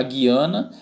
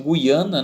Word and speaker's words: Guiana: muito pouco falado né a guiana que alguns estão em produção guiana né ambas as pronúncias estão corretas e a gente veio